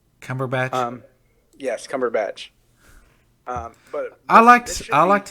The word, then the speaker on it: Cumberbatch: It's going to be inspired by the BBC Sherlock show, the one Benedict Cumberface, whatever his name is pronounced like. Cumberbatch.